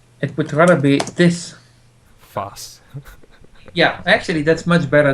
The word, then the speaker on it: Vos: need to change your name to the proper pronunciation. Voos. It would rather be this. Foss.